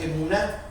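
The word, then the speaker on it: אמונה: Es una palabra hebrea, creer, y en el griego se pronuncia emuná, y significa fidelidad, significa lealtad, significa constancia.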